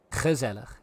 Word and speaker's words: gezellig: That's a soft G. That was a soft G. It's gezellig, if you wanna go nice northern.